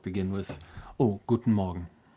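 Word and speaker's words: Morgen: Guten Morgan. Yeah. Perfect. Like Morgan but with no e less of an a.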